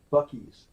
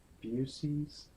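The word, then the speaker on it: Buc-ee's: someone for now that Bucky's it's Bucky's right it's not abuses where is abuses do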